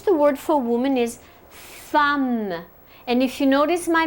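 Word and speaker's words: femme: woman in French the word for woman is thumb and if you notice my mouth it has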